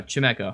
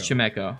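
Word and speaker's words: Chimecho: spoinken chemeko time echo would you say it right now chameco it's not true it's chemeko why alolan graveler for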